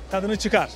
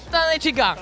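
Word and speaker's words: tadını çıkar: Tadnuchikar. Tadnuchikar.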